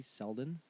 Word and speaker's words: Selden: G ro DJI Raji Selden it's like Sheldon without an H all right and I